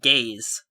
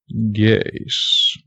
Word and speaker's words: Geas: Okay, so next spell is going to be Gaze. Gaze. You learn to stare at people. So what Gaze does, it's spelled Geas.